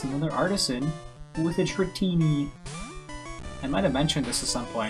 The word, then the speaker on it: Dratini: And it's another Artisan with a Dratini. I might have mentioned this at some point, that I thought Dratini had an eye in it, or like a third eye.